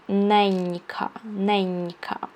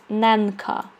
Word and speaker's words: ненька: So when I pronounce this word, I say ненька. If I didn't put the soft sign here, I would say ненка, because n is n, right? Because this sound is n.